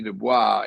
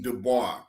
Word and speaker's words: Du Bois: Du Bois is not somebody that a lot of young black folk admire, but they admire Booker T.